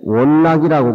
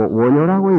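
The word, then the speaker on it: 願樂: 모두 금강경을 읽는데 원락이라고 그렇게 읽지 마시고 원효라고 읽어야 돼요. 응? 원효. 즐겁다라고 하면 낙이고 좋아한다라고 하면 요로 읽어야 됩니다.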